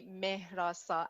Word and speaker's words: Mehrasa: i'm speaking in so if i wanted to pronounce it originally yes it would be me rasa but um like you see an h in my name right right m-e-h-r-a-s-a and that h is pronounced in persian a lot of people when i tell them it's pronounced assume it's like a sound or the french r sound but that's not the case it's just a regular sound yeah yeah yeah yeah yeah